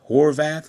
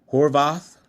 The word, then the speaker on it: Horvath: um I guess Emory uh Horvath Horvath I think that's how you pronounce it Horvath doctor in in Emery